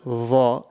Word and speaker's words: ظ: dha, it's not like the letter dhal, before when we mentioned the dhal, and it's not like the letter za. So it's very, very important to pronounce this, and the correct way to pronounce this is that your tongue, you circulate your mouth a little bit and you raise your tongue. The way the sound comes out is the same way,